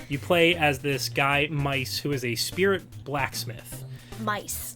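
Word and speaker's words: Meis: play as this guy mice who is a spirit blacksmith mice mice m-e-i-s not it sounds exactly like it's spelled uh so um the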